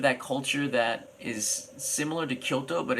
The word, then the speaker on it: Tokyo: Inside Tokyo, okay? And we say Tokyo has two syllables, by the way. It's not Tokyo, it's Tokyo.